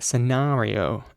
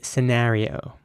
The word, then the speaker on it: scenario: And the word is pronounced scenario in British English, once again with an R sounding A. And in American English, it would be scenario. Scenario.